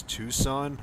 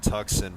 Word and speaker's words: Tucson: It's Tucson. Okay. I'm I'm sorry, dude. I like I said, I I have trouble with pronouncing certain um locations and everything, so I apologize, dude. Sorry if I'm killing you. I always call it tuxen from the way it's spelled, but it's uh yeah, it's Tucson.